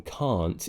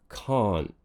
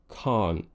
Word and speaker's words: can't: course if you join imagine the te is there but you kind of swallow it you don't actually produce it we tighten something around here called the glotis and that's what creates this false kind of pushed back sound so instead of it being can't it becomes can't can't can't I can't you'd hear it in words like a lot and hot often I recommend you